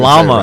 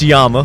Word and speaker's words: Llama: I don't even Llama. say it right. I don't even say it right. We say llama. Yeah, well, But it's Yama, yeah.